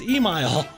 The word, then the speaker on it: Emyle: and I'm enjoying this I'm like no it's Emile like Kyle but okay so know back to